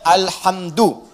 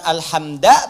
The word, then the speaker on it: alhamdu: Dibacaannya alhamdu, bukan alhamda pakai fathah atau alhamdi pakai kasrah. Ya, apa bacanya? Du, alhamdu pakai dhammah.